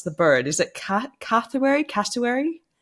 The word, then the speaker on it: cassowary: But there was a post that you put up on your socials not too long ago, and I always mispronounce the bird. Is it cassowary? Cassowary? Cassowary, The bird?